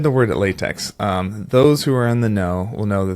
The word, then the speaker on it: LaTeX: said the word at latex um those who are in the no will know that this is actually pronounced latch and this is code